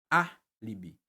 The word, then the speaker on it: álibi: A gente não fala nem alibi nem alibi. A gente fala alibi. E por isso, a gente conclui que a sílaba tônica aqui, ó, é a antepenúltima, tornando essa palavra, ó, uma proparoxítona.